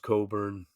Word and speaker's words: Cockburn: used to be right Coburn it says cockburn but okay it's pronounced Coburn Patrick his brother Patrick